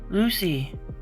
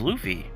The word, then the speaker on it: Luffy: her entire Kingdom and she can't even pronounce his name right shake my head Lucy my name is Luffy Lucy could Kuma push